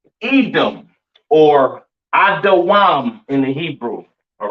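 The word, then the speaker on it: אדום: Pronounced Adawam in the Hebrew, all right?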